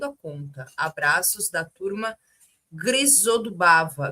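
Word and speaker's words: Grizodubova: Abraços da turma Grisodubava. Grisodubova.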